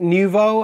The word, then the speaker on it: Nouveau: Actually, we pronounce it Nouveau, and seriously, who comes up with these names?